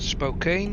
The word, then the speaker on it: Spokane: lights changing to Red I don't know why it's pronounced Spokan when it's spelled Spokane um a lot of